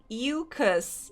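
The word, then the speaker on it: Ewecus: If you want something worse, in Don't Starve, there's sheep enemy called Eucus, which sounds like mucus.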